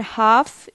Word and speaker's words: half: castle christmas half so match t silent castle t silent christmas tea silent so these three are silent t words and half is different because this is l silent word silent l word question number three solve